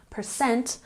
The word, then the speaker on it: percent: percentage for example 75% emphasis on the second syllable percent of the class pass